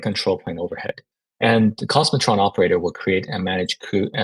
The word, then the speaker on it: k0smotron: new project out called cosmotron it's spelled keratron but we call it cosmotron and utilizing cluster API